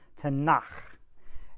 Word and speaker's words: Tanakh: They also call it the Tanakh. You get to clear your throat a little bit when you say that word. Tanakh.